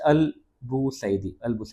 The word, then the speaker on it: Al-Busaidi: I'll try to repronounce it again. It's Al-Busaidi, and India and Oman